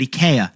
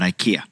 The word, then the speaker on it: IKEA: IA, that's how they say it in the native tongue. The meatballs are still meatballs, but eaya, not IKEA.